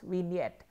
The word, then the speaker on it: vignette: Then you have vignette, it is called a vignette, the G there is silent, it is vignette.